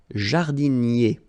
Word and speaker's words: jardinier: Un jardinier. Remember, I-E-R-I-E, jardinier.